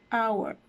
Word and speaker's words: hour: For initial word with the silent H would be hour, hour.